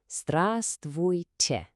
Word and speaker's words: Здравствуйте: We're just going to break it down into three simple parts. Let's do it together, syllable by syllable. First part is strav. You try it. Okay, the second part, stvui. And the final little piece, te.